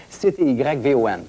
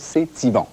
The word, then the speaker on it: CTYVON: En fait, dans cette série-là, je suis propriétaire d'une station de télévision qui s'appelle CTYVON, ou CT Yvon, ou C'est Yvon. Vous prononcez comme vous voulez, mais moi, je prononce C'est Yvon.